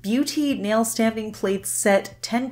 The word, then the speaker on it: Biutee: for today this is a brand called Beauty but it's spelled b-i-u-t-e-e and they actually have